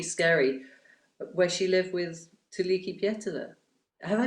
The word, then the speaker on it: Tuulikki Pietilä: tiny little rocky skerry where she lived with Tuliki Pietila. Have I pronounced that right, Marika? You have to help me. Yeah, that's right. Tuulikki Pietilä.